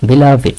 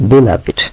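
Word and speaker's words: beloved: বিলাভিট, এটা খেয়াল করতে হবে উচ্চারণ। অনেকে বিলাভ বলেন, এটার উচ্চারণ বিলাভ না, বিলাভিট, বিলাভিট।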